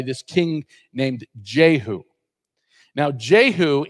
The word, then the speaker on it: Jehu: Now, Jehu in Hebrew would be pronounced Yehu.